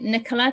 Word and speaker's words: Nicola: Italian so um I I pronounce it Nicola because that's the English way however also answer to